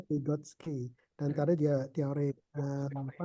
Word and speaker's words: Vygotsky: Tulisannya Vygotsky. Oh, Vygotsky ya, Vygotsky. Tapi bacanya Vygotsky.